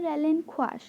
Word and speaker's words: relinquish: Actually इसमें रेलिंक्विश नहीं बोलते हैं इसे बोलते हैं रेलिंक्वाश। बट अगर आपको बोलना है तो आप बोल सकते हो, मैं जस्ट आपको समझाने के लिए ऐसे बोल रही हूँ, ठीक है। नहीं तो ऐसे इसकी प्रोनाउंसिएशन होती है रेलिंक्वाश, ओके।